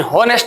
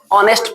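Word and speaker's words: honest: चलिए दूसरा लिखा होनेस्ट लेकिन होनेस्ट नहीं पढ़ा जाता है। ऑनेस्ट पढ़ा जाता है।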